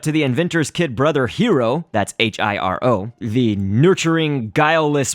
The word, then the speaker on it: Hiro: Hiro, that's spelled H-I-R-O, again, you know, that you can pronounce it Hiro, where you roll your R. But for these purposes, I'm just going to say Hiro so that I can say it quickly.